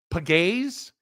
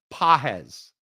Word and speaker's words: Pages: You mean pagay? Um, pahes. It's p a ge pronounced pahes.